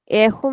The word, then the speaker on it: erro: Ahoo means mistake. Error very commonly used in workspace. Error or mistake.